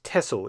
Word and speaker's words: Texel: Then on the 6th of February 1945, the battalion was transferred to the island of Tessle. It is written as T X L but is pronounced Tessle in Dutch.